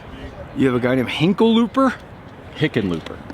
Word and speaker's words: Hickenlooper: You have a guy named Hickenlooper. Hickenlooper. How do you say what now? Hickenlooper. Oh, you just went close enough. You were close enough. Hickle. I can't help it. I have to correct you. Hickenlooper?